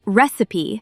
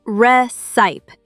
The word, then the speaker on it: recipe: The word recipe has three syllables. Recipe. Not reite.